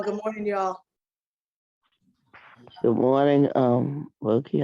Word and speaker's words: Bukky: It's actually pronounced Bukky. Oh, Dr. Bukky. Okay, cool. Absolutely. It's a Yoruba name.